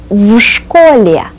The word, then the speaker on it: в школе: Did you notice how I blend the preposition with the next word? I pronounce it as one sound complex. В школе.